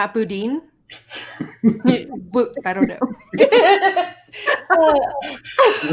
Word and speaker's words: boudin: So we heard you say that, and I'm like, oh, we got to say that right. It's boudin. Boudin.